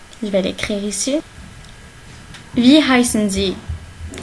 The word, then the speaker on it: heißen: Wie heißen Sie? S7, il se prononce 2 S, ok?